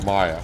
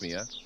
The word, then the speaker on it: Maya: Talk to Maya. Well, I'm going to get the rest of this done if I can. I think I said Maya. It's actually pronounced Mia, I suppose, here.